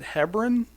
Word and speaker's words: Hebron: Do you ever venture down to the, I think people in Ohio pronounce it Hebron IFO?